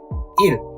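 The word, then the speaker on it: 일: Day is E plus L. Il.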